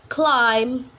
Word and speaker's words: climb: letter is letter b we not pronounce the letter B when it follows letter M for example like climb boom dumb plumber yep we